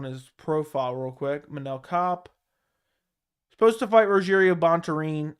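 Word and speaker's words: Kape: that his name is his last name is pronounced cop but that's the way it's supposed to be I want to say cape so badly every time I see it Manel cop on the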